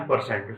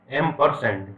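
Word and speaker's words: ampersand: ठीक है, लेकिन जो इसका प्रोनाउंसिएशन होता है ना वो होता है एम्परसेंड। ठीक है, एम्परसेंड।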